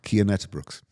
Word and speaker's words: Cian Uijtdebroeks: Can you tell me how that's actually pronounced? Cian Uijtdebroeks.